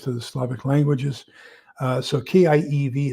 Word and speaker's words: Kiev: So K-I-E-V is Kiev. The V is almost pronounced like an F. I-E diphthong is E, just like we say chief, thief, relieve, belief. That's the same thing, I-E in Kiev.